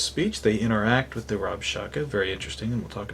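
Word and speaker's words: Rabshakeh: called the Rob Shaka Rob Shaka by the way is not his name please understand that it's the Hebrew pronunciation of some a Syrian military title well king hezekiah of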